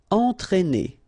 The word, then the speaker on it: entraîner: Alright, so first you get the nasal here, en, and then you get this accent circonflexe on the top of E, but then it doesn't change at all the pronunciation, so just consider that it's just a normal E, okay? But then if you combine it with A, then these 2 letters will produce the sound E, okay?